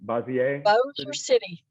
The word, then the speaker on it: Bossier City: And I've never been to, how do you pronounce Bossier City? Bossier City.